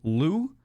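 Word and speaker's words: Lugh: of the uh the emerald aisle and basically Lou ended up going to the to the place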